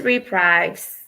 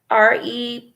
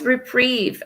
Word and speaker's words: reprieve: i'll play the platonics oh it's reprieve i didn't say it correctly i said reprise it's reprieve and that means to cancel